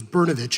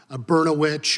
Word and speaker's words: Berovic: grade that I realized my name was berovic and not bertch or uh any other words that rhyme with that and that's just what